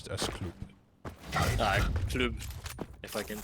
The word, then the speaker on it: Klyb: But yeah, we should pronounce it as Klyb.